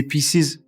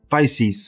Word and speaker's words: Pisces: How do you say pieces? No, Pisces.